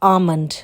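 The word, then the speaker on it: almond: English है आमंड अच्छा इसमें एल साइलेंट है एल is silent so इट्स आमंड बादाम की इंग्लिश है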